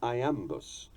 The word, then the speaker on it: iamb: those above is an iambus, more usually called an iamb, spelled I-A-M-B. I remember this by thinking of Popeye, whose trademark rusty croak went, "I am what I am.